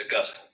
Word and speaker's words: Augustine: But it's not how you say it, right? It's Augustine.